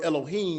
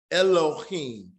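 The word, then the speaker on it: אֱלֹהִים: But in reality, there's a kataf sagal in the front. And it says, as in this word, can somebody pronounce this word for me? What is this word pronounced? Excuse. Excuse, right? X. So it's not that heavy like we're saying in Elohim. Excuse. So actually we could be more like Elohim. So it's telling you to shorten the sound.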